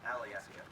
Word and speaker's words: Alyeska: of questions out here that word is actually pronounced Alyeska Alyeska is an ancient Alaska native Indian word